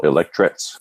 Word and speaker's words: electrets: magnetics and everything but is what they call electrets it's spelled ele ele CTR e CS like electrics